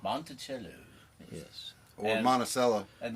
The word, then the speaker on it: Monticello: So I called Monticello, and talked to the gentleman- Monticello. Monticello.